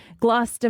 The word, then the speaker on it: Gloucester: Gloucester, Mass.